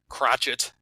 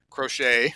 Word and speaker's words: Crochet: get, like the great Garrett Crotchet. Is that how you say it? Crochet.